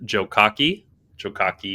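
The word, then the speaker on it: Jokake: I'm gonna start with and I looked at the pronunciation here. Jokaki Inn.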